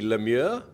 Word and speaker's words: Lemieux: So you were saying the Canadian version would be Lemieux, and the Lemieux. US version yeah. is Lemieux, right?